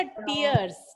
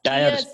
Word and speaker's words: tier: means अच्छा, टीयर्स. Tyres, टायर उसको टायर। नहीं बोलते हैं बेटा, उसका प्रोनाउंसिएशन टीयर ही होता है. टीयर, TIER.